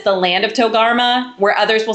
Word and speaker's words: Togarmah: And then, we have some versions will say it like the land of Togarmah, and or sorry, Togum I'm sorry. This word always trips up my tongue. Togarmah, Togarmah.